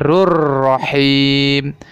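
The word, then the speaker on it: غفور رحيم: Terjadi idgham bilagunnah nya dibaca rur Rohim bukan wow vurun Rohim salah seperti itu ya yang benarnya yaitu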